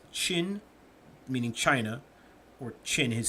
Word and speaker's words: Qin: Now, Qin is pronounced Qin.